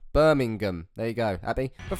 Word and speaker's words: Birmingham: I appreciate I don't say it properly. I leave the G out. Birmingham.